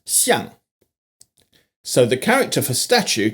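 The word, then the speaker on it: 象: Elephant and statue are both pronounced xiang.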